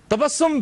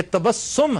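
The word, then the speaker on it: تبسم: तहम्मुल तदब्ुर और तबस्सुम तबसस्सुम भी लोग ज्यादातर तबसस्सम कहते हैं। ये तबस्सुम है।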